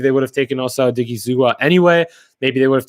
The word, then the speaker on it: Odighizuwa: Is that how I pronounce his name? Yeah, Osa Odighizuwa, because that was available to them, and that's what fell to them.